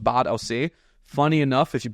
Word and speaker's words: Bad Aussee: It's called Bad Aussee. Funny enough, if you pronounce it in English, it's called Bad Aussie. Nice. Which is basically you. A Bad Aussie. It's literally spelled like that.